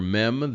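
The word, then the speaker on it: מם: for this lesson is the letter meem the M sound M uh and M as in mother so we will um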